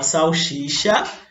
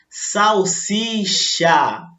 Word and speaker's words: salsicha: Falam salsicha, quando na verdade, olha lá, escrita certinho, e a pronúncia salsicha.